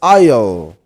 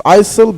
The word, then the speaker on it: isle: Isle like this. The s is silent. Some people think it's Isil, but it's not.